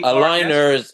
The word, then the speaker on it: aligners: Oh, aligners.